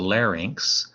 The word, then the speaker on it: larynx: have this structure called the larynx l-a-r-y-n-x that's how you pronounce that one larynx lot not larynx uh where when your